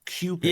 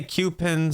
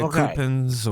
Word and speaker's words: Cewpins: of classic cartoons so it's cupin right it's pronounced cupin yeah I say cupin some people say cpin or Su I it's a madeup word I